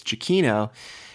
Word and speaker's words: Giacchino: And Christian made sure to kind of confirm to Riley that it is Giacchino.